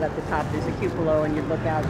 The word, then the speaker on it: cupola: Cupola. See, we were wondering how to say that, and you said it. We were like cupola, cupola, and you said it right.